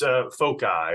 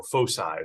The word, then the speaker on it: FOCI: So what exactly is FOCI, or FOCI, as some people pronounce it?